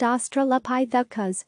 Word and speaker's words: Australopithecus: a cave today she represents the most complete Australopithecus pronounced Australopithecus skeleton and is helping researchers to learn more